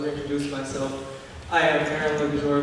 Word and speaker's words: Luxur: So I know that she accidentally mispronounced my name, so I will reintroduce myself. I am Aaron Luxor, Luxor, the fruit of born veganism in the flesh,